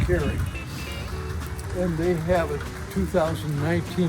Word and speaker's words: Koehring: If you Google or go to YouTube and type in Koehring or Koehring dumpter, and Koehring is Koehring, and it's pronounced Koehring.